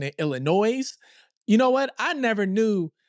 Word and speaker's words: Illinois: guess you're pronouncing it Illinois, but I've been pronouncing it Illinois. You know what? I never knew. Never knew that that S was silent.